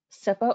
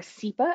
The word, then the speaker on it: CIPA: SIPA, or SIPA, as I've also heard it pronounced, so it can really go both ways, stands for the Children's Internet Protection Act.